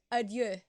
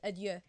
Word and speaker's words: adieu: Adieu. That's how you pronounce it. Adieu. Not adieu, but adieu.